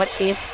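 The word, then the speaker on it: Ace: เพื่อน เป็น เอดส์ เนาะ เพราะ ว่า ชื่อ มัน แปล ว่า หนึ่ง เหมือน ใน ไพ่ อ่ะ เรา เรียก ว่า a อ่ะ มัน ก็ อ่าน แบบ เดียว กัน แหละ แต่ สำเนียง ญี่ปุ่น มัน ออก เสียง ว่า เอส มัน จบ แล้ว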